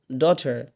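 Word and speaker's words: daughter: ডটার ডটার, বলেন তো ডটার ডটার, টির উচ্চারণ কী হবে? ঠ হবে। এখানে ট দিয়ে আছে, তাও আপনি ঠ বলবেন, ঠিক আছে?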